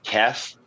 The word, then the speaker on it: Tess: kind of like hers it's it's pronounced tess there's no i used to always say there's no ass in my name because everybody wants to